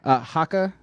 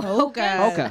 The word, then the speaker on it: Hoka: Haka supporter. What is Haka? Hoka? What is this stuff? Oh, Hoka.